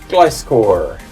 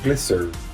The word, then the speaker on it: Gliscor: Next up, another uncommon, Gliscor, or Glisser, depending on how you want to pronounce it.